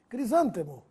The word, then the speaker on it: crisântemo: é catéter com acento crisântemo ou crisantemo não tenha medo de falar errado quando pedir essa flor para o florista pois ambas as formas estão corretas Mas se você quer saber a forma preferida da maioria dos brasileiros lá vai crisântemo com acento duplex ou duplex as